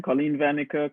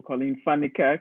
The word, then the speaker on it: Colleen Van Niekerk: So again, you can pronounce my name Colleen Van Niekerk or Colleen Van Niekerk, which is how it's said in South Africa, which is where I'm originally from. Either one is okay.